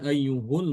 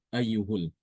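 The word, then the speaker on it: أَيُّهُ: Jami'an ayyuhul mu'minuna la'allakum tuflihun. Ayyuhul. Adapun ketika waqaf maka sama dengan Imam Hafiz ya. Ayyuh. Bacanya ayyuh. Ya, ini bedanya antara Imam Ibnu Amir dengan Hafiz itu ketika dibaca wasol saja.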